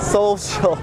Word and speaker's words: Social: And they say it like Seoul, like Korea. Social.